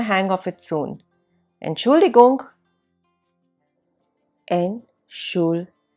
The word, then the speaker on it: Entschuldigung: Entschuldigung. Here also, T is silent.